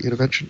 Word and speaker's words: Univention: Univention?